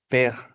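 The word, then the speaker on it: père: dijera padre versión, porque padre En francés se pronuncia per podríamos iniciar entonces con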